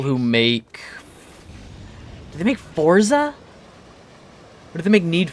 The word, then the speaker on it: Forza: Like pizza. Forza. If pizza is meant to be pronounced that way, why isn't it spelled that way?